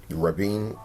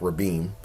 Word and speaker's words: Rabin: Rothschilds with Shimon Peres, Isaac Rabin, or Isaac Rabin, if you remember that pronunciation growing up, and the designers.